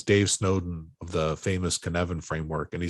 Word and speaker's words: Cynefin: If you want to study Cynefin, it's spelled with the C. It's a Welsh word.